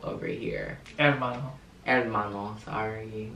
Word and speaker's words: Hermano: And comment down other videos you'd want to see me do with me, Hermano, over here. Hermano, sorry. You don't pronounce the H.